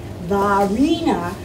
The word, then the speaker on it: Varina: but it's kind of when they pronounced it it was like French name valina and it was VAR